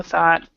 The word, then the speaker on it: thought: And a lot of times people want to pronounce the U-G-H. And instead, it's actually not pronounced at all.